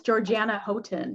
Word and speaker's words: Georgiana Houghton: Today I was reading, and okay, actually, how do you pronounce, is it Georgiana Houghton? Yes, Georgiana Houghton.